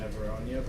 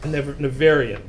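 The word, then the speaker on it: Nevèrÿon: But one of the things that really stuck out to me in the Neveronia book. Nevarian.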